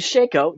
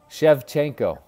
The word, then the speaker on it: Shevchenko: ah there is Valentina Matthew Shaco did I pronounce it right producer did I pronounce it right Matthew Shaco I can't hear him Jesus did I pronounce her name right shevchenko why do I always mispronounce their last names Jesus Christ you're being